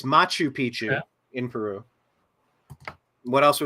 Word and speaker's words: Machu Picchu: Mexican pyramids um what's I forget inor watt maku Pichu am I pronouncing all this stuff right there's there remnants of it's angor It's angor watt it's Machu Picchu in Peru what else were the other ones